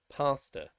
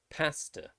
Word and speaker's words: pasta: ghast and vast so the exception again would be if the word is broken up into two syllables such as pasta for americans this is actually this word is actually pronounced as pasta but for british english